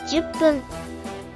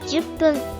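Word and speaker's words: 十分: Then add PPUN after, becoming HAPPUN 8分 and JUPPUN. 10分 Reading aloud, that's 8分 for 8 minutes, 10分 for 10 minutes.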